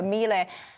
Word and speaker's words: Milei: But look, Javier Milei, how do I pronounce this? I always get it wrong. Milei, there you go, Milei.